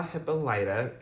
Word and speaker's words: Hippolyta: particular episode, we saw Hippolyta, that's how they pronounce it here. I've heard other pronunciations, but I'm gonna go with Hippolyta because that's how they pronounced it here.